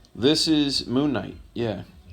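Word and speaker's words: Moon Knight: this cover real quick Moon kite this is moonight yeah I know it looks like it says kite but the K is silent it's Knight it's like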